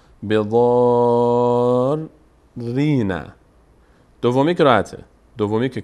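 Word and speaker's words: بضارّين: ببینید آخرش بضار، ری رو، ری ساکن اول رو در امتداد مد تلفظ میکنیم، بضار رینا.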